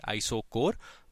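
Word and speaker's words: isochore: तो इसको हम कहते हैं, इनको हम कहते हैं आइसोकोर, ठीक है, CHOR। We read this as कोर, मतलब this is pronounced as K, आइसोकोर।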